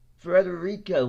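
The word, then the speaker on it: Frederica: boy oh he lost Internet oh okay Oh Frederika Wilson that's how you pronounce her name she was a congresswoman from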